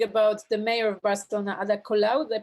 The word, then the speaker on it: Ada Colau: I wanted to ask you what you think about the mayor of Barcelona, Ada Colau. Did I pronounce her name properly? Yeah, Ada Colau.